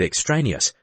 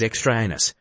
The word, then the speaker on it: extraneous: the textbook out loud he came to the word extraneous which he must pronounced as extra anus no work was done